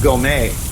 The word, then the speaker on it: Gomez: And it's not Gomez. It's spelled Gomez, but it's pronounced Gourmet.